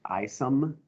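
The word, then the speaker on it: Isham: plan i'm introducing brian it's spelled i shum but it's pronounced i some like isom so introduce him as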